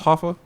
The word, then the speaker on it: Hoffa: I believe it's pronounced Hoffa. I wasn't expecting to listen to this, honestly. Someone else put me on. It's called Hoffa, like H-O-F-A, like Jimmy Hoffa?